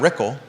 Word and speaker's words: Rickle: Brad Rickle, rhymes with pickle, $10,300.